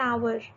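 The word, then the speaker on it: hour: बट यहाँ पर एन आवर, ये हमारा कॉन्सोनेंट एच से लिखा हुआ है, बट बोलते वक्त एच साइलेंट है और हम कह रहे हैं आवर, जो कि एक वॉवेल साउंड है, इसलिए ये हमेशा एन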